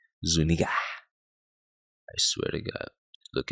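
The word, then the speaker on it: Zuñiga: is the man's name it is spelled z-u the N has a mustache on top like Spanish IGA Zuniga I swear to God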